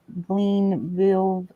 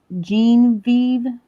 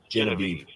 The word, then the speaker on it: Genevieve: I'm just reaching you about that property over on Glenville Avenue. You still looking to sell it? What street? It's I think I mispronounced it. It's on Genevieve. It's spelled kind of weird. Genevieve.